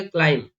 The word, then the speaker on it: climb: जैसे CLIMB, तो यहाँ पर बी एम के बाद आ रहा है, दैट्स द रीजन नहीं करना है बी का प्रोनाउंस, तो क्या जाएगा? क्लाइम, वॉर्म, लिम, नम।